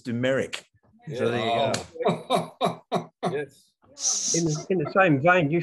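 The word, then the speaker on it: Dumaresq: look with demerisk i used to call him dumaris too but i was told by the former rare book librarian that it's dumerick in the same vein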